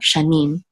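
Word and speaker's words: שנים: Shanim, and the accent mark is on the last syllable, because over the Nun right here, this is the accent or trope mark, Shanim.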